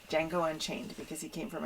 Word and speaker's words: Django: Traveling along with us is my dog, Django. I say my dog because he's my service dog, so he's with me all the time. The D is silent. The D is silent. Django unchained because he came from a shelter.